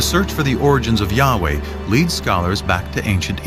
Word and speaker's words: Yahweh: and his name was these four letters which in english would be yhwh which we think were probably pronounced something like yahweh but yahweh only appears